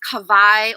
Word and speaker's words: Kawaii: Kawaii, that's the correct way to pronounce my first name. The W in Hawaiian is actually pronounced as a V in some cases.